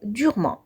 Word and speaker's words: durement: ناخدو le mot durement. هاد le mot, les lettres E, N et T se prononcent en LH parce que durement est un adverbe.